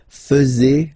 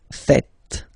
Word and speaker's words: faites: And it's quite funny because many French people tend to make the mistake and tend to say vous faisiez, okay? But then no. It's vous faites. Vous faites. Okay?